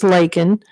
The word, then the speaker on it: Laken: her name he miss he called her Lincoln her name's Laken but the other thing